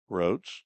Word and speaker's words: Rhodes: Sets the stage for a save situation for Grayson Rhodes, Grayson. Rhodes has a silent H in there just for the fun of it.